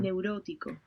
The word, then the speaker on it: neurótico: neurótico, Neurótico.